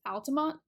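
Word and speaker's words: Altamonte: Disney another city Altima this is an example of how sometimes letters don't always make sounds they might be spelled in the word but they don't make any sound at the end so this Altamont there's really no e sound at the end it just is there for decoration and the spelling of the word Altima and there's a bonus I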